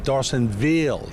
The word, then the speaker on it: Dorsonville: Mario dorsonville and now he says dorsonville that's how he wants to pronounce so we're used to saying dson Ville he wants to say dson Ville so what I'm going